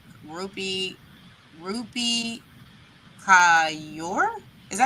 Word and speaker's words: Kaur: I've never seen Rupi Kapoor. Rupi Kaur? Is that how you say her name? Core. It's core.